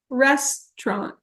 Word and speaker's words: restaurant: The way I say it looks like this. Restaurant. Restaurant. 2 syllables.